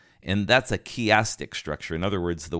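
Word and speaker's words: chiastic: biblical study a a chastic structure and you spell that c h i a s t i c chastic structure it's named after the Greek letter Kai which is a letter X so if you think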